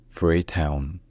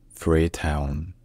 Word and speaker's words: Freetown: Coastal Beauty and cultural heritage in English is pronounced free Town free Town free Town free town all right if you enjoy learning